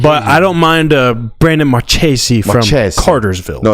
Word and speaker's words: Marchese: Now, how would you like to pronounce Brady's last name? Georgia got to commit out of Cartersville. Brady Marchese from Cartersville, Georgia. From everything I've heard, it is Marchese. Ah, boo! I like Marquez.